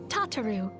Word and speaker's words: Tataru: also introduce you to tataru tataru but apparently it's pronounced like tatar i don't know i'm probably gonna call her tatara that's her please to